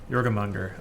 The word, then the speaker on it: Jormungandr: Thank you for, I genuinely appreciate, people that correct my pronunciation, so thank you. Jormungandr.